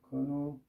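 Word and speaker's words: Knudsen: 크누센이 덴마크 분이셨던 것 같은데, 크누센. 그래서 D가 묵음입니다.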